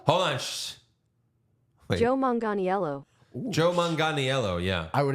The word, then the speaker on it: Manganiello: I'm going to sound like Josh if I try to pronounce his name. Joe yeah, you do it. Magliano? Hold on. Shh. Wait. Joe Manganiello.